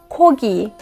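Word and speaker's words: 고기: at this word guys kogi Kogi I have a Khiyeok at the beginning and it sounds k because it's at the beginning and I have a Khiyeok in the middle and sounds G because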